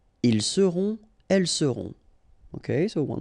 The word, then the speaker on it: ils seront: the end, et serez, ils seront, final T not pronounced, elles seront.